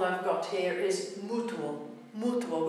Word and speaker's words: mutuo: Mutuo, which means mutual, mutuo. Again, two syllable word, beat on the first u, mutuo. Uo being a combined single syllable sound.